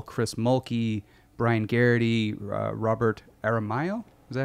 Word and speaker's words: Aramayo: It stars James Badge Dale, Chris Mulkey, Brian Garrity, Robert Aramayo.